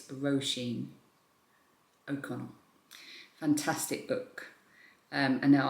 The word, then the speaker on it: Roshene: a fantastic job and the author's name is Ro Sheen Roshene. A few people told me how to pronounce it correctly in the comments and I'm pretty sure it's Roshene Okon.